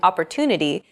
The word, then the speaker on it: opportunity: are valued greater than syllables that are unstressed opportunity the stress syllable to in Opportunity is deemed more important so it's pronounced longer than all other syllables listen to it